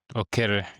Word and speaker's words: Okere: It sounds like mine, Okello, but Okere.